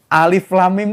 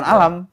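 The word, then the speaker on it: الم: Karena bacaannya alif lam mim itu ya alif lam mim dari dulu bacanya bukan alam.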